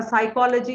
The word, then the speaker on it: psychology: oral sounds in English right uh um a psychology is there where PS is a silent air